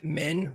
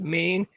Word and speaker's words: Men: So, it looks like N is men, but it's pronounced Maine.